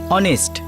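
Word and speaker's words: honest: ইউ R right, অনেস্ট এইচ দিয়ে শুরু হয়, কিন্তু ফোনেটিক্সের উচ্চারণ মানে প্রনাউন্সিয়েশন ও দিয়ে হয়, অনেস্ট।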